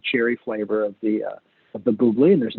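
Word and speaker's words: Bubly: it the last super-old Buble it's spelled like bubbly with missing a B so a single BB or Libya BB Buble and you know it's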